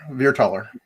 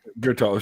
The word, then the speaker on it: Veerthaler: You'd be pronounced taller, veer taller. Veerthaler, sure.